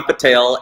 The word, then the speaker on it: Patel: It's Patel. And I've had Patels tell me it's Patel. I'm like, you are wrong. It is not Patel. It's Patel.